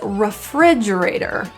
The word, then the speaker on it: refrigerator: The next word is refrigerator. It sounds very different than the spelling.